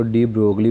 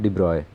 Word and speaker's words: de Broglie: Correction कर दूँ कि ज़्यादातर पाकिस्तानी इसको डी ब्रोगली पढ़ते हैं, प्यार से डी ब्रोगली कहते हैं, जबकि असल प्रोनाउंसिएशन इसकी है डी ब्रॉय।